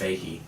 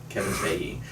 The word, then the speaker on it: Feige: It took me a long time to in pronounce that right. producing. It's Feige. Kevin Feige.